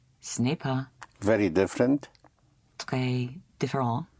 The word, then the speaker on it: très: Très différent. Like that. Comme ça. Right. Ce n'est pas très différent comme ça. Yes. But it is very important for me. Mais c'est très important pour moi.